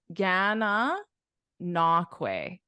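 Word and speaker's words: Gananoque: The correct pronunciation is Gana Nakwe. This is pronounced Kwe. Way. Kwe at the end, and then Gananakwe.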